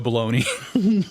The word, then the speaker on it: Bologna: He plays James Caan's brother, Leo, and his name is Joe Baloney.